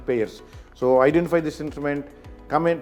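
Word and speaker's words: Payr: Here Payer's, P-A-Y-R spelling, but pronunciation Payer's.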